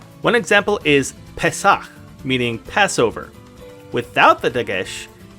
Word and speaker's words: Pesach: It's our final letter that's pronounced differently with a dagesh, and with the dagesh, it's pronounced with a P sound. One example is Pesach, meaning Passover.